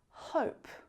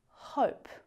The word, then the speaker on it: hope: So if we look at the word hop, as soon as we add that E to the end, it becomes hope. So that vowel sound extends outwards, hop, hope.